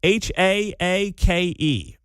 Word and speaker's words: Haake: H A A K E. I don't know how to pronounce his last name.